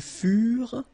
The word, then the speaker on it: furent: Ils furent, elles furent. Keep in mind that ENT, you know, the ending for the plural form is never pronounced, though. Furent, okay?